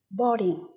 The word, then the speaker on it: boarding: Boarding. Boarding. Từ này có hai âm tiết và trọng âm sẽ rơi vào âm tiết đầu tiên.